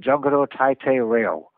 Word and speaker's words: Jungle Taitei Leo: He was proposing another black and white series that he was calling Jungle Taitei Leo. They pronounce it Jungle Taitei Leo.